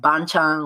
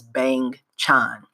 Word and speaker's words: Bang Chan: So the group consists of Bang Chan, which is hilarious because when you read it that way, bang and chan, it sounds like banchan, which is the side dishes in a Korean meal, but that's not his name.